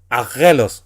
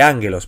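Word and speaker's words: ἄγγελος: Por eso la palabra aquí no es aguelos, por decir algo, sino que ánguelos. Porque cuando se da la combinación en gama gama, la primera gama siempre se pronuncia como n y la otra mantiene su pronunciación y su equivalencia a nuestro español.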